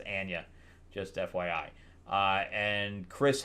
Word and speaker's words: Anya: that's how you say her name it's not Anya it's Ana just FYI uh and Chris Hemsworth doing a